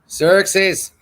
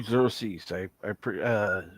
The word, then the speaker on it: Xerxes: Xerxes, what's going on, Xerxes?